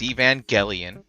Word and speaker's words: Evangelion: he was close. He was off by only one syllable, whereas someone Say it. else here was. Say it. So it's Evangelion.